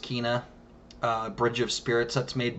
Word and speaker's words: Kena: That Kena, I think it's pronounced Kena, Bridge of Spirits, that's made by the studio.